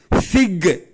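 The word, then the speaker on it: fig: ஆங்கில வார்த்தை பிக் tree பிக் எப் சவுண்ட்ல உச்சரிக்கணும் சி பிக் ட்ரீ இது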